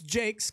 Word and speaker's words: Jacques: Now, Jacques is how you say her name. It's Jakes, Chris Jakes' wife.